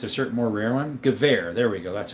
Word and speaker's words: Gewehr: Gewehr, there we go. That's how you pronounce it.